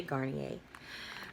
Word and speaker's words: Garnier: a second so this is how you say Garnier this is gardenias whole blends oat delicacy it